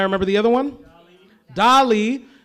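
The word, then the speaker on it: DALL-E: the other one doly Dolly uh that's spelled like Wall-E but with a d by the way guys so d a l l e if I remember correctly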